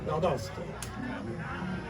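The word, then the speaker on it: Valle d'Aosta: because in Italian it's Valle, E''Aosta, and it's pronounced Valdosta.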